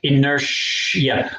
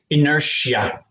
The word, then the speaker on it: inertia: yes it's the same the pronunciation is just slightly different inertia like it's sh inertia inertia don't hesitate to